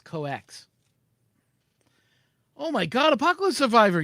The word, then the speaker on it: COEX: No, coax. It's COEX. D is silent. So it's coax. It sounds like code X, but actually it's coax.